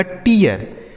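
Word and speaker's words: tear: टी से हो गया ट। इ ए का उच्चारण इय आर से र इसे पढ़ा जाएगा टियर। टी ई ए आर टियर। ठीक है?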